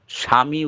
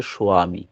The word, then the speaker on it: স্বামী: স্বামী উচ্চারণ হবে না যখন আমরা দীক্ষাপত্রে লেখা থাকে স্বামী এই স্বামী কিন্তু উচ্চারণ হয় না প্রকৃত উচ্চারণ হচ্ছে সোয়ামী ওটা যাতে কেউ দেখে